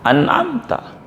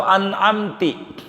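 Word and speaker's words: أَنْعَمْتَ: An'amta atau an'amti, membaca kasrah, ini parah yang kayak begitu. Siratal ladzina an'amti, kalau bacanya an'amta dibaca an'amtu atau dibaca an'amti, bagaimana ini? Kalau sengaja sholatnya batal. Kalau nggak sengaja, maka yang batal bacaannya, yakni Fatihahnya. Ulang saja, kalau jaraknya nggak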